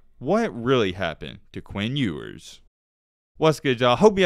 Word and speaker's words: Ewers: Quinn Ewers, and yes, I am saying it correctly. I thought it was Ewers, but it is Ewers.